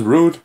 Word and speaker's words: Roode: And his name is Rude. Yeah. And actually, Rude's real name is spelled R-O-O-D-E.